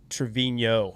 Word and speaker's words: Trevino: What do you like um and what Trevino Trevvinho I'm guessing is how it's pronounced correct? Yeah.